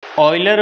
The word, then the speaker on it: Euler: दोस्तों इसे ईलर नहीं कहा जाता, इसे ऑयलर प्रोनाउंस किया जाता है।